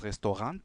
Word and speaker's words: Restaurant: Bien, donc voilà, das Restaurant, ou das Restaurant, parce qu'il faut toujours prononcer la fin, en français, restaurant.